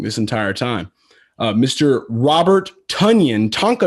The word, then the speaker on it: Tonyan: Started off with a guy that I found out we've been pronouncing his name wrong this entire time. Mr. Robert Tonyan, Tonyan, 5K on DraftKings against Chicago.